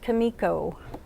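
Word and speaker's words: Comico: answer everyone's burning question it's pronounced Kimiko I quit there too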